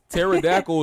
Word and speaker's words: pterodactyl: i'm saying like foreign pterodactyl is spelled with a p look it up what's